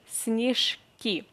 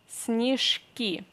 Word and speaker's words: снежки: Е unstressed we pronounce as E, снежок, and then снежки. Here the same, Е unstressed we pronounce as E, and then Ж we have to pronounce as Ш.